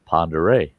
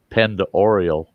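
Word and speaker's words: Pend Oreille: a lake there, and it's called Lake Ponderay. Mm-hmm. But if you say it the way it's spelled, it's Lake Pendoreal.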